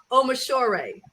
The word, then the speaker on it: Omishor: And I want to go back because I'm pretty sure I mispronounced her name. So it's Dr. Omishore.